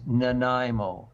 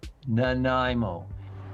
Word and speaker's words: Nanaimo: Well, next, a very real treat, a human treat inspired by Canada's own Nanaimo bars is making the rounds. There's just one small issue. Listen carefully, everyone. It is Nanaimo. Nanaimo.